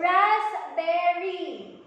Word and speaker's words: raspberry: naman natin yung mga words na merong letter P sa spelling nila, but this P is pronounced silently. Alright? Let's have the first word. We have the word raspberry.